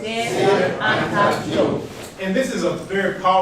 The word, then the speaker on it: Cheikh Anta Diop: I want everyone to pronounce his name in a Wolof way. Cheikh Anta Diop. Cheikh Anta Diop.